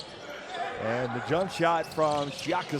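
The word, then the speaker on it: Shyaka: And the jump shot from Shiaka 6, no good, but the follow and the dunk from Kaje and Rwanda have arrived.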